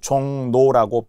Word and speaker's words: 종로: 그래서 결과적으로 우리는 종로라고 쓰지만 발음은 종노라고 비화되기 때문에 결국 바뀐 발음대로 적는다라는 거예요. 자, 일순위 종로부터 해 볼게요. 표기는 로지만 발음이기 때문에 종노 니은으로 바뀌었다면 이제는 종 그리고 NO로 바뀌는 거죠.